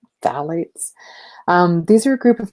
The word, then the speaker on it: phthalates: fairly major one are the phalates that's kind of a silent P phthalates these are a group